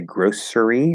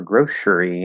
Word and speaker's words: grocery: See, this is another word that has two pronunciations. You can say grocery or grocery, and I wanted to say both at the same time, so that didn't work out very well. Grocery also has two different pronunciations, right? Yes, exactly. See, there we go. I didn't even finish reading the question. Yes, it does. So yeah, that C can be an S sound or an SH sound.